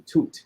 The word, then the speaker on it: Tut: You know, it's actually Tut, the proper way to say it.